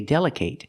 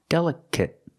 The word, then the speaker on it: delicate: real problem is delicate you cannot say delicate it's pronounced delicate delicate the last syllable is a short sound it it it delicate because delicate is an adjective it's not a verb that's why we pronounce it like that delicate clothes and